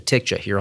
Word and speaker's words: TCJA: tax reform and that's how do you pronounce the name as Jayson just said like many tax practitioners we've come to affectionately refer to the tax cuts and Jobs Act as the TIC jahir on the podcast but